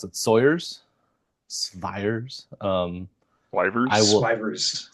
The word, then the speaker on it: Swyvers: How do you pronounce it? Sawyer's, Swyers. I Swyvers. will Swivers. Yep. Swivers.